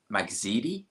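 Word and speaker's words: Magdziak: So Michael Magzidi is how you pronounce it versus Anthony Kakache.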